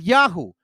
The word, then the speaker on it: Yahu: or Yahu or Yama, the Babylonian version of Yahu, meant link them with their deity, in this case Yahweh, but in proper pronunciation, Yahu.